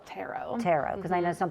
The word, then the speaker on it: tarot: us first of all how how do you pronounce it it's called tarot tarot because I know some people say turret or tarot or whoever so uh please tell